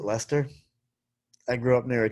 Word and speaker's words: Leicester: keep it straight but at least i know how to pronounce it right lester i grew up near